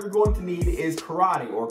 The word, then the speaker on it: karate: The first martial art you're going to need is karate or karate. First off, yes, I know it's pronounced karate, and I'll be trying to pronounce it as such, but if I slip,